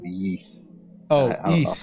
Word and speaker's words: Ys: wise nine uh i think it's called the yeast oh that's how you pronounce it the east series yeah yeah uh was very good and